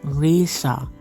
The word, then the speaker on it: Raisha: That's when we met our tour guide, Raisha. I think that's how it's pronounced. She said it rhymes with Asia, so I'm rolling with that.